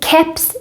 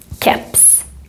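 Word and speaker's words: keps: in this case because caps is pronounced here like a k sound and this happens when we have borrow words these can break the normal pronunciation rules in swedish cups the last thing i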